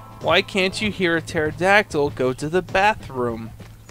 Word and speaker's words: pterodactyl: can't you hear a pterodactyl go to the bathroom because the p is silent okay yeah i've never